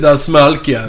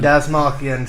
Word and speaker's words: Dastmalchian: How do you pronounce his last name? Yeah, there you go. He got it. Kendall got David it. Dastmalchian. Dastmalchian.